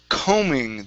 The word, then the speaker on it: combing: Uh next up is combing The B in this word is silent Combing Combing Good Good